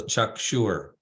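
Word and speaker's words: चक्षुर्: So now we see that S with the dot under it. That's pronounced as an SH as well. So chakshure chakshure.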